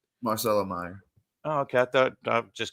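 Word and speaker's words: Marcelo Mayer: this next guy here marchelo Meyer I think that's how you say it um that's just wait is it Marcelo Marcelo Meer oh okay I thought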